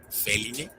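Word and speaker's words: Felinae: terminación de las subfamilias, mismas que terminan escritas en NAE, que, como hemos visto, se pronuncia como NE. Así tenemos subfamilias como Canine, Feline, Hominine, entre muchas otras más.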